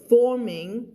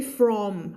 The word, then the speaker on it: forming: เห็นไหม home ก็อันนี้คือฝึกพูดนะเวลาเธอไปพูดจริงๆก็ I wanna go home ก็ไม่ต้อง อันนี้คือฝึกออกเสียงพูดจริงๆเธอก็แบบ I wanna go home ก็ได้อยู่Paul felt a lump forming in his throat. Formingนี่คนไทยมีปัญหาเรื่องนี้เยอะด้วยเสียง r อยู่ข้างหลังสระไม่ใช่ from อันนั้นคือเสียงควบกล้ำใช่ไหมถ้า f กับ r อยู่ด้วยกันแล้วเป็น o อันนั้นถึงจะอ่านว่า from